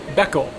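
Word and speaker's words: beko: And in tohokuuben, the pronunciation or the linguistical stylings that they use in northern Japan, they call cows, which is normally ooshi, beckle, and aka means red.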